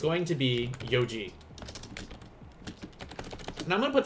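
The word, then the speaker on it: 四時: o'clock because it's not going to be uh shiji or yonji it's going to be yoji now i'm going to put star here because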